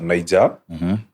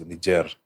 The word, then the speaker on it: Niger: here we normally say Niger but the actual pronunciation is Niger yeah because of their French Colonial yes yeah um since